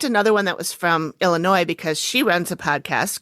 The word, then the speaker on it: Illinois: cities in the U.S states of Iowa and Illinois Davenport and bettencourth and Southeastern Iowa and Rock